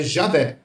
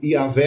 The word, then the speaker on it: Javé: Na Igreja Católica tem uma outra pronúncia que é Javé, né, que é próximo do Yahvé, né, porque eles pronunciam J com o som de J do português. E o Iavé é a pronúncia do do J no latim, que tem o som de I, tá?